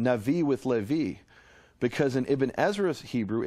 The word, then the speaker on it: Levi: those is Levi and there's no question whatsoever that 1500 years ago in the land of Israel the Jews pronounce that sound as a v the interesting thing is